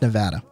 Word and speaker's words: Nevada: the tourist logo we're like pronounced nevada that's it no we're not